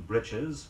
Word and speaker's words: breeches: blatant manner offended her although the next word is spelled b RT e CH es it is pronounced Richards say after me he wore riding breeches for the fox hunt